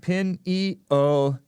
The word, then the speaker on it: pineal: side of the bear what says pineal gland pin II Oh gland thank you she's telling us how to pronounce it I think Jimmy diem Wow -